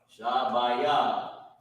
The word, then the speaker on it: Shabbayah: Shah, Ba, Ya, Shabbayah. Salaki for jamming that up like that. Shabbayah, that's how you pronounce it.